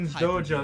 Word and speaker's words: Hyun's Dojo: Damn, Hyun's Dojo, that's how you pronounce it, okay.